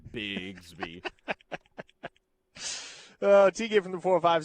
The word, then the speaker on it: Bixby: But I I will refer to it as Bixby because that's how it's spelled. That's how it's most accurately pronounced.